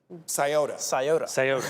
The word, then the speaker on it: Scioto: This one was submitted from Madison Johnson out of, how do you pronounce this one? Scioto? Scioto.